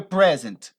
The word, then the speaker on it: present: significa presente tá mas quando você muda a pronúncia dessa dessa palavra aí para ênfase no final presente então você está